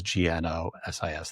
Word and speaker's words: Gnosis: Gnosis Therapy, which is GNOSIS Therapy. The G is silent, so it just sounds like Gnosis. But there's a G there.